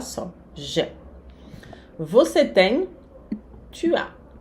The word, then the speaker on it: tu as: Você tem, tu as. Tu as, o S não se pronuncia.